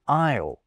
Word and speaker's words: isle: L in salmon, and a stupidly silent S in isle.